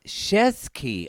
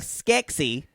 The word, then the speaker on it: Shesky: She said it's Shesky. Shesky. Oh, You just Shesky. you just flick Y'all, the letters around. Mary Shesky. Not like Skexy.